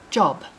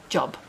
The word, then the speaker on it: Job: word is job therefore here in kenya we pronounce this book of the bible job that's what i've been calling it for the last 35 years for some unknown reason or maybe some of you know the reason in the uk we call it job english can be very